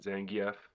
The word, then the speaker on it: Zangief: I call him Zangief. Some people pronounce it Zangief. That's probably right, but that's not the way I say it, so I'll stick with Zangief.